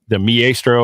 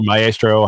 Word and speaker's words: Maestro: The only thing that I saw that I think was popular was the Maestro or Maestro, however you want to pronounce it. Depending on where you put the accent, is a big thing.